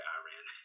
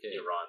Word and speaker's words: Iran: before, how Iran has, sorry, Iran, that's how a lot of Americans say Iran, they say Iran.